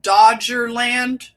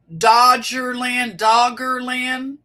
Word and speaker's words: Doggerland: It's called Dogger or Dodgerland. Doggerland. I don't know. Doggerland. Doggerland. Dodger. What is it? Is it Dodger? The LA Dodgers. They don't spell it. It's 1G. Dodger is 1G. So it's Dogger.